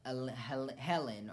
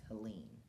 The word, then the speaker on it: Helene: The hurricane, Helen or Helene, it's spelled Helene. So it's not Helen. I think it's Helene.